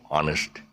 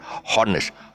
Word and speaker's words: honest: honest person you you you just say honest you know honesty is the best policy it's not hardness oh the hedge is